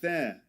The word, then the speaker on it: there: And you'll see that he doesn't pronounce the final R at the end of there. He doesn't he doesn't say there but there.